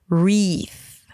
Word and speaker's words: wreath: It has a W at the beginning in the spelling, but remember that every time you have a W and then an R, the W is pretty much silent.